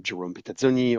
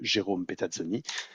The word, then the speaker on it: Jérôme Petazzoni: I'm Jérôme Petazzoni, or if I try to pronounce it the French way, Jérôme Petazzoni.